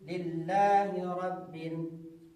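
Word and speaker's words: لِلَّهِ: Kebanyakan orang alhamdulillah tidak ada tasdidnya dibilangkan di sana. Kita ucapi lillahi silakan diikuti.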